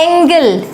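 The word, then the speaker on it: angle: कोण पढ़ते हो आप तो ये है एंगल और वो है एंजल तो ऐसा क्यों है कि यहां पर जी को हम पढ़ रहे हैं ज और यहां पर जी को हम पढ़ रहे हैं ग ऐसा क्यों ये वाली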